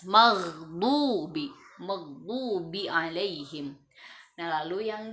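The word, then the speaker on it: مغضوب: Bacanya maghdubi, jangan magdubi. Nah, ya, ada 2 kesalahan biasanya. Orang membacanya seperti huruf G, itu kurang tepat. Maka bacanya dari tenggorokan bagian atas, maghdubi, maghdubi alaihim.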